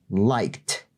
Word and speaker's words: liked: Entonces, el ed al final se pronuncia como T seca. Liked.